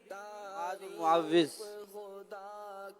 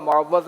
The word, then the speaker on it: معوذ: معوذ دیکھ لیجیے تلفظ. جواب درست ہے. اب معوذ بھی بول دیں.